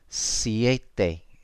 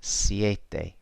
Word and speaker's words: siete: So if you think it is siete, then well done, because that's exactly how you pronounce it. Siete, seis, siete, seis, siete. Okay, so that's how the E and the I are pronounced in Spanish.